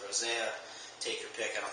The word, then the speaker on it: rosea: And the rose hair is Gramostola rosea, or rosa, depending on, I've heard it pronounced a bunch of ways. There's an E in there. I go with rosea.